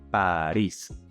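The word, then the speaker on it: París: apply room number one it has a stressing Mark above the eye so you're going to pronounce it Paris another example would be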